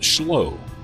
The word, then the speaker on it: Schloo: spelled s c h l o o but pronounced schow and the longtime owner operator is headquartered in